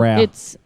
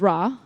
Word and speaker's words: Ra: It's pronounced Ra. It's Ra.